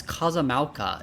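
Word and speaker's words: Kozama'uka: I always see like the apostrophe, and I always think it's like, okay, I need to pronounce the second part here as like a separate phrase. But Alphino just pronounced it like all as one word.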